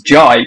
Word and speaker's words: Jai: Funny enough, the reason why I'm called Jai, it's double barrel, is because the J is actually it's supposed to be pronounced as Jai because I'm part Indian.